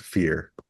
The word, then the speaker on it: PHIR: History and international relations are the two majors, but we call it PHIR, and it's pronounced fear.